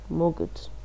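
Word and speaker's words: могу: So the stress changes. You say ya mogu, ya. This the stress changes here only in the first person. So you say it's ya mogu. The stress is on the second, but for all the others, the stress is on the o.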